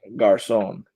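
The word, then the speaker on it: Garçon: gosh sown Pierre Garcon that really is how it's pronounced I can see because of that little mark underneath the sea so is pronounced Garcon so we're gonna get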